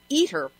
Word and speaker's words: ITER: International thermonuclear experimental reactor or iter pronounced eer project at the Oakridge